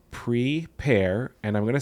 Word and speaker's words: Pre-Pair: So it's PRE-PAIR. So pre and the word pear as in like a pear of fruit.